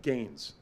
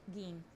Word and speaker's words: Gein: real serial killer Ed Gaines. I'm guessing I'm Oh. pronouncing that right. Geen. I think Gaines? it's Geen. Okay, Geen. because she put SP in parentheses, not.